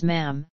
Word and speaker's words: ma'am: When conversing with Elizabeth, the correct etiquette was to address her initially as Your Majesty and thereafter as Ma'am, with a short A as in jam.